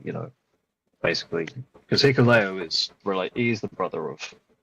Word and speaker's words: Hikuleo: Hikuleo, however you pronounce it. Yeah. It's Hikuleo.